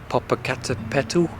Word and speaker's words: Popocatépetl: Today headed up Popocatépetl, I think is how you say it, which is like a very big volcano.